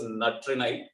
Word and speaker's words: Natrinai: 7th one is pronounced as Natrinai, but spelling goes like this.